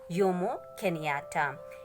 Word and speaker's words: Jomo Kenyatta: It is pronounced as Jomo Kenyatta.